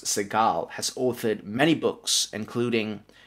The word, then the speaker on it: Segall: science advisory committee for the cob Institute Professor seagull or pardon me I believe it's pronounced Seagal has authored many books including crossing the threshold